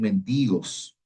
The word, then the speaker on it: mendigos: Los minusválidos, por ejemplo, los cojos, los ciegos, los paralíticos, frecuentemente convertidos en mendigos. No mendigos, no, mendigos. Mendigos, así se pronuncia.